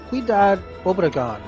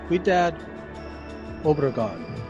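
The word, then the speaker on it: Ciudad Obregón: from MSCO, Mexico, flying over Guaymas, G-U-A-Y-M-A-S, Guaymas, and then going to Ciudad Obregon, and I believe I'm pronouncing that correctly. Ciudad Obregon.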